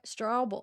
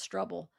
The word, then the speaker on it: Struble: Why do I keep wanting to pronounce it Stra- Strawble Struble? But maybe they just could pronounce Struble. Like trouble cuz it's trouble.